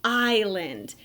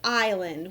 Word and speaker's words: island: the letter i but in the word island you're going to have a silent s there and so you're going